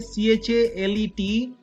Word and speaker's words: chalet: देखिए यहाँ पे CHALET शैले इसका प्रोनाउंसिएशन होता है, chalet, chalet, chalet, लेकिन हम इसको अपनी